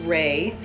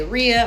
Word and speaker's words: Rhea: My last name is pronounced Ry, R H E A. A lot of people say Ria or Rehea and those are really pretty, but it's Ry for me.